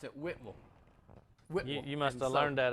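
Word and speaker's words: Whitwell: know where it's at but it's really they pronounce it whipple you must have learned that up there afterwards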